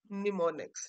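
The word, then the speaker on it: mnemonics: इसमें एन एम जो है वो साइलेंट है, सो इट is called निमोनिक्स.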